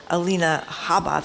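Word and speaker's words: Alina Habba: that case we had a very unusual lawyer Alina Haba that's how you say it who was the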